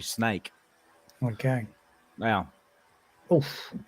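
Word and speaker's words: Sneek: it's actually in English you'd pronounce that as snake, but in Dutch it's actually snake.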